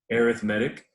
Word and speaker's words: arithmetic: was called arithmetic and i know it's print it's spelled the same as arithmetic but that is not how you say this word not in this context anyway arithmetic and this is what